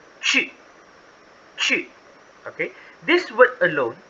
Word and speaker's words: 去: So this word here, the first word, QU, you should pronounce with the U double dot sound, the U sound. 去去.